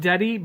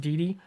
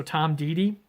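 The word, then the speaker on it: Deady: It looks like Deddy, but in the forward you find out it is pronounced Didi, so Tom Didi.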